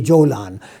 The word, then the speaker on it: Golan: Golan Heights you know in Arabic you know the Egyptians and pronounce the gim as gim so Golan is actually Jolan so the Jolan Heights